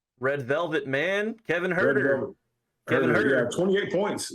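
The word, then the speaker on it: Huerter: And high point man the night, Herta, how do you pronounce his name? Herta? Red Velvet man, Kevin Herter.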